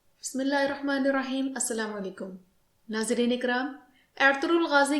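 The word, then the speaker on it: Ertuğrul: जुबान में जब इस लफ्ज़ को अदा किया जाता है तो एर्तुगरुल बोला जाता है, मगर जब उर्दू में इस लफ्ज़ को बोला जाएगा तो अर्तुगल या अर्तुगरल बोला जाएगा, मगर मैं यहाँ तुर्किश प्रोनाउंसिएशन इस्तेमाल कर रही हूँ।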